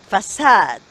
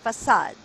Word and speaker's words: facade: four five facade right F and the inverted E is the schwa and should be pronounced right and sad sad with an air with two dots on top is short a right good like rock lock mock right remember okay so that